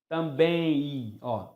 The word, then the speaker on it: também: Ninguém pronuncia também, só o Silvio Santos. Nós pronunciamos também i. Nós transformamos o M em i.